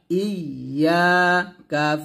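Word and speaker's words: إِيَّاكَ: তারপর হামজা ইয়া জের ই, ইয়া আলিফ জবর ইয়া, ইয়া কাফ জবর কা, ইয়াকা, এখানে সুন্দর করে বলবেন ইয়াকা ইয়াকা। অর্থাৎ যখন ইয়াটা উচ্চারণ করবেন জিহ্বার মধ্যখান উপরে তালুর সঙ্গে লাগিয়ে ইয়াটা সুন্দর করে উচ্চারণ করবেন, ইয়া, এরকম ইয়াকা।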